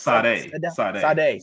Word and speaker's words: Sade: Is it Sadie or Sadai? It's Sade. Sade. He's the original Sade.